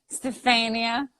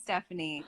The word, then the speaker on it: Stefania: Stefania. Stefania. I could see people saying Stephanie because they Yeah. just are stupid and say it. But what? They don't know how to, like, it's Stefania.